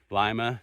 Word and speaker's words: Lima: It is Lima not Lima. I thought it was Lima but all the towns out here are not the way I would pronounce them so it's not like Lima Peru.